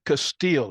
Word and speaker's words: Castille: Chief forgive me Castile is am I saying it right brother you defin saying they right you know everybody call